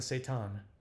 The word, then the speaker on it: seitan: I adjust my half-marathon medal and keep working on the seitan, pronounced similarly to Satan.